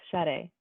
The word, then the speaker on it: Sade: know Sarah or I I don't know if it's pronounced Sade or yes shade yes hello hello my name is shade and I use she